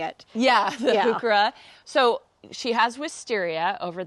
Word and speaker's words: heuchera: That's just a coral bell, heuchera. Man, this is so pretty. This is really just. It took me years to learn how to say it. Yeah, the Yeah. heuchera.